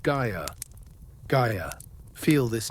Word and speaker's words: Gaia: Gaia. Feel this name on your lips. Guy uh three syllables each one round and soft like the rolling earth like gentle soil.